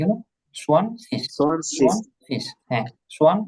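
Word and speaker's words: zwanzig: জোয়ানচিস বলা যাবে নাকি? না না, সোয়ান শীষ, এটা তো সেট না। সোয়ানজিস। হ্যাঁ হ্যাঁ, সোয়ান সোয়ান শীষ, সোয়ান জোয়ানজিস বলা যাবে কি? সোয়ান শীষ। শিখ বলতে পারেন, শিখ, শিখ। এই যে হ্যাঁ। গেট আছে না, গেটা লাস্টে থাকলে ক এর মতো উচ্চারণ হয়, তবে দুইটা সঠিক।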